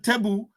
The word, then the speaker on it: Toubou: The Toubou people, pronounced sometimes Tebu, are a Saharan ethnic group inhabiting northern Chad.